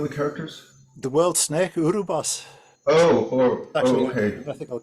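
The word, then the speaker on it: Ouroboros: characters the world snake urub boss Oh orical I thought it was Ora boros I maybe okay yeah been mispronouncing it in my head this whole time it's my English accent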